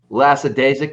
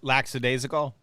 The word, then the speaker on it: lackadaisical: it's I'm not real lackadaisic. Is that a word? Is that how you pronounce that? Lackadaisical?